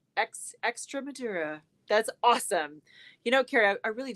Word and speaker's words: Extremadura: See, Carrie gave me a thumbs up on the pronunciation. Extremadura.